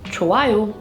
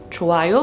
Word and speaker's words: 좋아요: For example, 좋아요. 좋아요 means I like. The hieut there is silent and it is pronounced as 좋아.